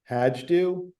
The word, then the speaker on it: Hajdu: So I've got they'll be probably labeled proprietary red, just because I try not to label anything Cabernet under the Hajdu brand, just to avoid any overlap.